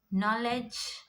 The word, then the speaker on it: knowledge: So in the beginning, if you get K and N words, the K becomes silent. You have to pronounce the N sound. So examples: knife, knee, not, knit, know, known, knowledge, knuckle, night, new.